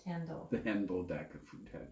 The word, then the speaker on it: Hendel: it's pronounced Hendel.